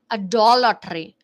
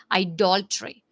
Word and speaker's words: idolatry: meanings of adultery is a dollar tree is is adultery adultery adultery i'm sorry for the mispronunciation it's idolatry that is given attention to